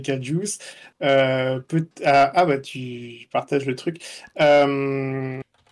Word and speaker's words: KJUICE: Oui, Juice, puis on a rajouté un cap parce que c'était Kerbal. donc c'est Kajuice.